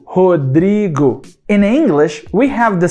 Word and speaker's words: Rodrigo: Por exemplo, meu nome é Rodrigo. Dri é a sílaba tônica, a sílaba forte. O schwa nunca estaria nessa sílaba. Ele poderia estar na sílaba ro ou na sílaba go. Rodrigo.